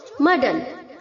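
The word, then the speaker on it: muddle: Next है बच्चों मर्डल। बहुत सारे बच्चे इसे म्यूडल प्रोनाउंस करते हैं, गलत है बच्चों। अगर आप म्यूडल बोलते हैं तो गलत प्रोनाउंस करते हैं, म्यूडल नहीं है, मर्डल, ओके।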